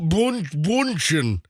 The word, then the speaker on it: Bündchen: Gisele Bündchen. Yeah, it's bunchen. So the song doesn't work. It's not the Brady bunchen. No, listen, I know that it's bunchen, but what?